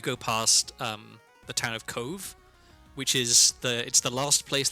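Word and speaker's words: Cobh: So, like, if you Google Cove, it's spelled C-O-B-H, because Irish.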